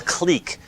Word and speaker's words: clique: soft version of what's called a cleek in in graph theory and a clique is a fully connected or clique sometimes but clique is usually how it's how I've learned to pronounce it but a clique is